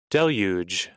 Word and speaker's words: Deluge: power Deluge of fear Deluge it's pronounced Deluge Deluge okay Deluge of fear I